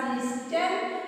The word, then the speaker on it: listen: We are writing this word as listen, but it is pronounced as listen. The T is silent.